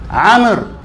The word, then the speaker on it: Amr: If you just say Amr, if I ask you Amr, just say Amr.